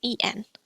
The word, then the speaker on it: en: Next one is EN, which is pronounced like earn, as in burn. But the sound is shorter, so instead of earn, it's n.